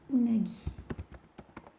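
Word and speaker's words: うなぎ: Alors, une anguille, ça va être unagi.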